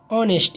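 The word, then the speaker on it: honest: ऑनेस्ट, इसमें H silent आ रहा है, ओ ओ आ रहा है ओ, तो यहाँ पे ओ के पहले एन लग गया है।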